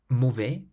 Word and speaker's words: mauvais: The following words, for instance, all end with letters that are completely silent. Délicieux. Délicieux means delicious. Parfait. Parfait means perfect. Toujours. Toujours means always. Tout. Tout. Everything. Mauvais.